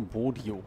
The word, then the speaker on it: Bodio: Nicht Bodo, Bodio. Da ist noch ein I dazwischen. Das habe ich ja komplett übersehen. Bodo, Bodio.